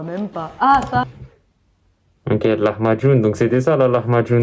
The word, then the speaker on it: Lahmacun: Ah, pourquoi Lahmacun, ça s'écrit avec le C? Parce que chez les Turcs, le C, c'est le djim des Arabes. Donc, c'est-à-dire, c'est le C se dit dj en turc.